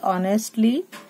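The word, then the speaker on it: honestly: टी एल वाइली ऑनेस्टली क्या है ए silent रहता है हमें व पढ़ना है खाली ऑनेस्टली you must put इन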